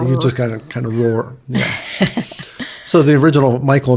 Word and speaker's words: Rohr: it I honestly don't but it's kind of pronounced the same it's r yeah you just kind kind of Roar yeah so the original Michael and Mary came